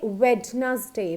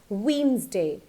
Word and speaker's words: Wednesday: mistake in this thing we usually say red nasty but it is not correct it's Wednesday it's never said where does day it's said Wednesday okay so the next